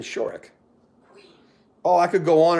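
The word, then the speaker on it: Shorrock: it was fry uh glenn sharok of a little rubber band it's glenn shorick oh i could go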